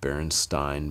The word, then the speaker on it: Berenstain: but she always said berenstein bears just like you'd say frankenstein with a long eye she always said it